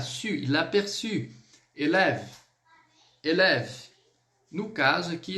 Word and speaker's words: élève: Élève, élève. No caso aqui, esse élève basicamente élève, como se eu terminasse no V, embora eu tenha o E ali na grafia, ok?